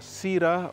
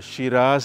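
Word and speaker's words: Syrah: from yeah we have a Sira or Shiraz depends on which continent you're pronouncing it and we have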